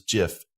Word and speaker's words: GIF: was working on graphic software and it was jiff everyone you mean if there's graphics software so period hearing these other pronunciations is its it just sounds like a